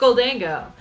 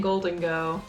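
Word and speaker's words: Gholdengo: ghou Dango that's fair I guess it is kind of spelled like ghoul I didn't think about that yeah but they were saying golden go or goldang go it it who knows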